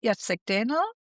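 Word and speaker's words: Jacek Dehnel: So 2010 we had Yatseek Denel.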